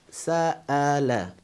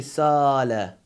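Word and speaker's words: سأل: And another, we say, another example, we have sa'ala. In this case you see, dear viewers, we have hamza in the middle. So we say sa'ala.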